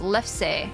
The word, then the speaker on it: lefse: For real, it's pronounced lefse. Lefse. Okay. I was trying to figure out how to pronounce the last part of it. If it was like lefse, lefse, or if it was just a silent E, lefse.